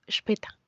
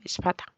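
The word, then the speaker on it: später: las vocales son umlaut en el caso de la a pasa a pronunciarse como e Por eso digo espeta y no espata en el caso de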